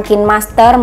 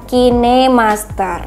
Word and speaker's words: KineMaster: gunakan adalah kinemaster tuh cara bacanya itu adalah kinemaster ya teman-teman bukan Kind Master maupun kain Master itu salah yang benar adalah kinemaster jadi aplikasi kinemaster itu